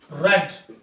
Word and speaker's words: read: your subject is plural books are red clear pronunciation is a bit different spellings are sam books are read by